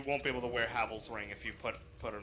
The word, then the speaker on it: Havel: I think if it matches Haval's ring for equip load, I might wear it instead. I think Havel's ring is now you're making me pronounce it like Havel. Oh, is it Havel?